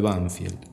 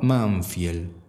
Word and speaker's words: Banfield: en el centro de banfield mi papá pronunciaba manfield lo decía con la m Yo entendía sus palabras